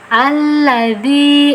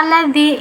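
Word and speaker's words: الَّذِي: Nah, di sini kita bacanya alladzi. Nah, kenapa alladzi? Nah, di sini kan tertulis ladzi aja ya. Nah, itu kaidah dari hamzah wasol ya. Ketika ada hamzah wasol, ini hamzah wasol berdampingan atau bertemu dengan lam, kaidahnya hamzah wasol tersebut harus diberi harokat fathah. Jadi walaupun fathahnya tidak tertulis, nah kita yang menambahkan sendiri.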